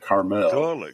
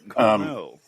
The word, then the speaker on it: Carmel: It's fucking Carmel, but it's the people that live there pronounce it Carmel. Carmel.